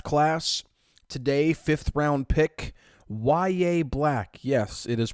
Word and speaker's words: Yahya Black: Fifth round pick YA Black. Yes, it is pronounced Yaya Black.